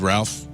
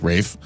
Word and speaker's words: Ralph: it I've often ridiculed Ralph I'm sorry Rafe when his name is clearly spelled Ralph and he's trying to get away with some sort of weird English pronunciation and Co-op my name